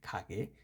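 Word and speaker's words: 가게: এটা হচ্ছে খাগে, এটা উচ্চারণ হবে খাগে মানে দোকান।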